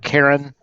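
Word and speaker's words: Caorin: play fire mage named karen c-a-o-r-i-n the o is silent um i am one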